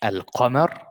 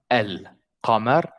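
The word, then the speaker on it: القمر: And the moon in Arabic means al-qamar, al-qamar, al-qamar. So al-qamar means, if you listen to me saying it, I said the lam completely.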